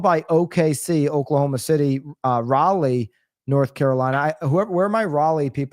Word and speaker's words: Raleigh: Rae, I think of Lee from my team in Connecticut runs sales. I think Lee. I think Raleigh. That's how I do it. Okay, that's how I speak correctly. Raleigh coming in at the third spot.